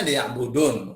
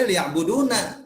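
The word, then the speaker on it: ليعبدون: Ini kan kalau berhenti bacanya liya'budun. Orang kira liya'buduna, enggak liya'buduni dia.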